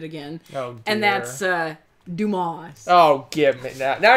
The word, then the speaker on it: Dumas: Well, you don't pronounce his name the other way. It's French.